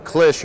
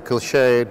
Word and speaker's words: cliché: So the reverse, it's a cliché or a cliché, depending on how you want to pronounce it, but it's basically an incuse of the obverse.